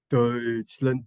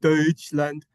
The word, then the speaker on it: Deutschland: Deutschland, Deutschland. That's how you say Germany. We say Germany, but if you want to say Germany in English, or in German rather, they call it Deutschland.